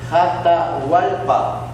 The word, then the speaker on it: Atahualpa: En Quito, en la energía del centro, nace Atahualpa, que en realidad se escribe Jatahualpa.